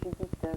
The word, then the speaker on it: Judith: D'accord, donc c'était Judith, donc ça se prononce on prononce T à la fin, Judith Grossman, qui est de Paris, n'est-ce pas?